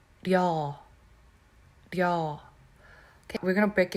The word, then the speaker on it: 려: In English, when you say y'all, how y'all doing? Y'all, right?